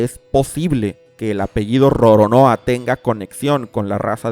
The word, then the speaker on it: Roronoa: El apellido de este personaje, pronunciado como lo harían los japoneses, es Roronoa.